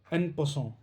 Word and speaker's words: en passant: There is also one very special rule which is uh very unique and uh that is the uh npon. You you pronounce it is a French word.